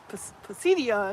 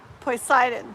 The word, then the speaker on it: Poseidon: It's probably Pidion or something. Poison. Am I saying it right? Anybody know? Po poseidon. Poseidon. Poseidon. Is that better?